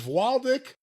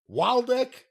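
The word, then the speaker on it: Wladek: Indian strap match, Chief Wahoo McDaniel versus Waldek Waldek, whatever you want to call it, Killer Kowalski. W L A D E K, it's Polish and yeah, there's a variety of pronunciations.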